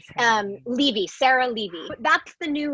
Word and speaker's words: Levy: You can find me uh, and also I just was pronouncing her name completely wrong. It's Levy.